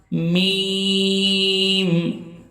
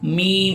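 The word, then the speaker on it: ميم: Calf calf simple calf লাম লাম আওয়াজ করতে হবে লাম মিম দুই ঠোটকে একত্রিত করে মিম উচ্চারিত হবে মিম মিম নুন ঠোট গোল করে উচ্চারণ করতে হবে।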